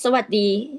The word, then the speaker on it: สวัสดี: We say สวัสดี all the time. Sawadi all the time. Is that correct? It's just สวัสดี สวัสดีครับ Sawadikap.